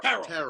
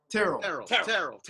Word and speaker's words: Terrell: Terrell. It's one syllable. Terrell.